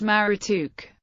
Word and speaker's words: Marduk: According to the Encyclopedia of Religion, the name Marduk was probably pronounced Marutuk.